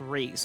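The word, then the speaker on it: Rhys: Oh yeah, I actually did ask the Discord for Fire Emblem Wiki, and they all agreed that Reese is pronounced Reese because, and apparently one guy speculated that it's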